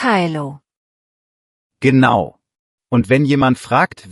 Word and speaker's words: Hallo: Hallo, betont man so, Hallo, nicht Hallo.